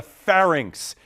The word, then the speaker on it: pharynx: middle ear with this P initial part of your body that is also known as the throat and rhymes with larynx I'm saying shaking heads over there correct answer there is the pharynx the pharynx is another